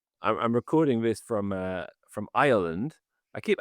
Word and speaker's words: Ireland: I keep I kept calling it Ireland for ages and then everyone would say which which island are you going to? I go Ireland. You got to add the extra little syllable in the middle.